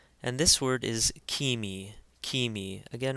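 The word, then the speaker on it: ⲕⲏⲙⲓ: And this word is kimi, kimi. Again, remember the eta, which is the second letter in this word, has a long E sound like seek.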